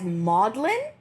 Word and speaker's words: Magdalene: The Bible uh but they pronounced it as modlin like m a u DL a n i don't know how